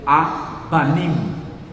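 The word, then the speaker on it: אבנים: Pedras, hebraico, a-vanim, a-vanim, ou a-banim, que essa consoante ela pode ser pronunciada B ou V, tanto faz, então, a-banim.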